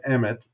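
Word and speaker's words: אמת: And the word is emet, if you're going to pronounce it in Hebrew.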